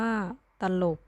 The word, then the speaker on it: ตลก: กัน เลย ค่ะ มุข ตลก อ่าน ว่า ตลก จะ โหลด อ่าน ว่า